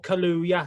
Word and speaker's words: Kaluuya: find it last night, because I could never pronounce his name right. He's in Black Panther. Daniel Kaluuya, that's him.